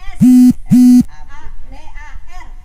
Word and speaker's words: Sabar: Hurufnya S. A, B, A, R. Dibacanya Sabar.